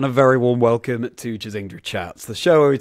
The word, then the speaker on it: Chazingdra: Yes, it is Chaz, short for Charlie, combined with Kingdra, my favorite Pokemon. Kingdra. Chazingdra.